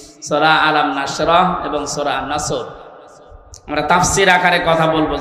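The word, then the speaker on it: نصر: নাসর মানে ইগল পাখি এজন্য তেলাওয়াত যখন করবেন উচ্চারণটা মুখ গোল করা লাগে আল্লাহ পাক জানিয়েছেন যখন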